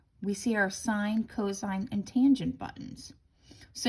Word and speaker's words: sine: So sine, S-I-N-E, is abbreviated as S-I-N. All right, even if I see the word S-I-N, I still pronounce it sine.